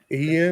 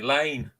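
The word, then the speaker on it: Iain: because um the Americans because I spell my name Ian i a i n which is a Scot's way to spell it a lot of the Americans because the the letter L sorry I looks like an L A lot of the Americans call me Lane go reseller streams and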